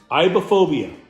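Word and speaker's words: aibohphobia: at that bad boy iophobia iophobia that's how you say it now what iophobia is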